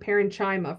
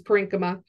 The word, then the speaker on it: parenchyma: parenchyma which by the way I used to pronounce this word parenchyma for the longest time but it is parenchyma um and you know if we think about